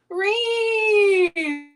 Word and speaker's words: Reen: I think that the phonetic spelling of it must have 11 E's in it, because it's spelled R-E-E-E-E-E-E-N, and I cannot say it without smiling.